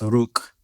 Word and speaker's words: Rook: And so that's the whole meaning of what people pronounce it as Rook or Rooks, but it's really pronounced Rook.